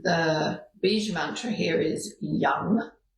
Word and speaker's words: yam: And the bee mantra here is young as in y a m but pronounced y u n g young.